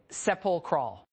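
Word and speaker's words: sepulchral: The corridor was sepulcr still an absolute say it seep crawl three syllables each one heavier than the last from the Latin sephilcrum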